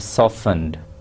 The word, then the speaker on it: softened: pepper 4 tablespoons of softened butter here I would like you to pay attention to this word softened T is silent one tablespoon chopped parsley